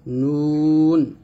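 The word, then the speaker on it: نون: তারপর হচ্ছে নুন, জিহ্বার আগা তার বরাবর উপর তালুর সঙ্গে লাগিয়ে নুন উচ্চারণ করব, নুন।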